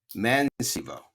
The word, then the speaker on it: Mäensivu: finished or don't speak Finnish how do you pronounce your last name so we get it right it's man Cebu you got it it's good Big Challenge yeah